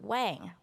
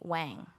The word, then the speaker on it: Wang: Because, as I said, for most of my life, I've been saying my own last name wrong.